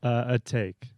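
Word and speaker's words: Atake: that in you know this is pronounced a take a take what is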